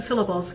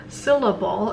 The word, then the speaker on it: syllable: um let's look at look at the word syllable it has actually three beats still let go and that means it has three syllables if you were to skip on the second syllable it might sound like syllable then when you were